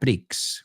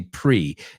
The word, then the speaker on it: Prix: Well, today in the year 2021 at the 2021 Abu Dhabi Grand Prix, we don't say Grand Prix, we say pre, the X is silent in English.